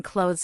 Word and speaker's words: clothes: The th in clothes is silent. It sounds like close.